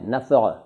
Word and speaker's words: नफ़ा: सही इसका उच्चारण वैसे नफ़ा है, नफ़ा अरबी का है, अरबी का है, नफ़ा, नफ़ा, देखिए नफ़ा, इस तरह से बोलना मुश्किल है शायद सबके लिए, तो नफ़ा कह दीजिए चलेगा।